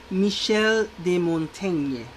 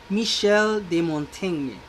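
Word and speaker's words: Michel de Montaigne: we say that so this is pronounced as michel de montagne michel de montene the question is not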